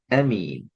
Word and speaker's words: அமீன்: பெலதில் பே பண்ணி பேதல் ஆமீன் என்று வரக்கூடாது ஆமீன் ஆமீன் அல்ல அமீன் அ என்று கூடாது அமீன் திருப்பி வஹாதல் பெலதின்